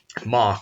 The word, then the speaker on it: Moq: unit testing framework and MOC which allows you to it's spelled moq but it's to MOC MOC K out implementations